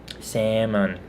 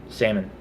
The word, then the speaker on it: salmon: I've always grown up not pronouncing the L. Salmon. Salmon.